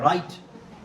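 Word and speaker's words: write: यहां पे क्या है राइट राइट के अंदर क्या है जी जी साइलेंट है एच भी साइलेंट ही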